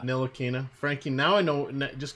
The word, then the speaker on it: Ntilikina: Ntilikina. Ntilikina.